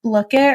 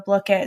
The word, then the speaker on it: Blooket: My classes thrive off of a website called I'm going to say it wrong and I'm sorry, but Blookit or Blookit.